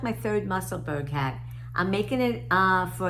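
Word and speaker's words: Musselburgh: I learned the correct pronunciation. It's not Muscleburg, it's Muscleburg.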